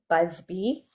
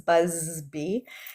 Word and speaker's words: Busby: So, my name is Busby and I always say B goes buzz buzzby and um I am